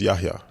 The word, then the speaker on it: Yahya: How my name is pronounced is Yahya. Yahya. Yahya, yeah. So the H is not silent.